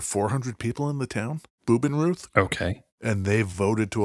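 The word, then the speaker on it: Bubenreuth: go to nearby called boob in Ruth I get the feeling you are pronouncing German like I pronounce Spanish that could very well be boob in root is that what you just said uh-huh okay this town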